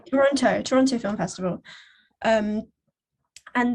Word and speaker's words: Toronto: say it is like Toronto which is basically without pronouncing your t's like that's how people